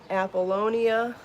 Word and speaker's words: Apollonia: be so sporty yarn apollonia is be so baby yarn so just wanna say it correctly to make sure it gets uh make sure i can correct anything going around does anybody else like